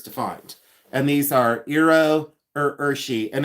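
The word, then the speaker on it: Iro Urushi: And these are Iro Urshi, and it's spelled I-R-O, and then Urshi is U-R-U-S-H-I.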